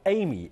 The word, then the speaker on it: AIMEE: AIMEE, A-I-M-E-E.